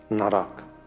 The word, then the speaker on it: naraka: Of course, jail, or naraka, according to Tibetan pronunciation, but Sanskrit says narak, or in English, hell or something, The idea of imprisonment, life sentence, This is my wish.